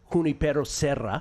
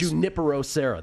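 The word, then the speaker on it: Junipero Serra: Instead of Huniperosa. All right. So, the next Juniperosa. That's how we pronounce that.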